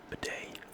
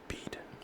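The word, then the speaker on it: Bede: So, how do you pronounce that name? B-E-D-E? Bidet? Bid? Or Bead? I'll just call him Bidet.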